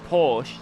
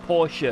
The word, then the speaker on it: Porsche: It's like when, right, I pronounce Porsche, just Porsche, but apparently it's Porsche.